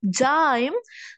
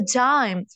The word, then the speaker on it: dime: Like for example, it's not a dim, it's a dime.